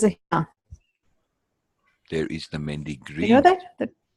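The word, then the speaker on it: mehndi: That's how they say it, Mendy.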